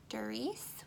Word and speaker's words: Darice: It's, the brand is Darice, which is spelled D-A-R-I-C-E, and it is advertised as a bead organizer.